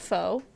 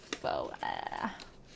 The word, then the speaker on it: pho: Is that pho? It does say pho on it. It's dollar store pho though, like literal dollar store food. So, dollar store pho.